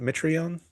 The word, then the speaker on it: Mitrione: Is that how you say it? Mitrione? Yeah, you say it right.